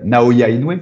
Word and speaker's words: Naoya Inoue: Et tu vois, moi, pour l'anecdote, la dernière fois que j'ai commenté Naoya Inoue, c'est comme ça qu'on le prononce.